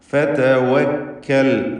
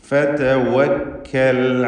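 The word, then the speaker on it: فَتَوَكَّلْ: ഫതവക്കൽ വാവ് ചുണ്ടുകളിൽ നിന്ന് തന്നെ വരണം. ചുണ്ടുകൾ വൃത്താകൃതിയിലാക്കി 2 ചുണ്ടുകൾക്കിടയിൽ നിന്ന് തന്നെ വാവ് ഉച്ചരിക്കുക. ഫതവക്കൽ അലല്ലാഹ്.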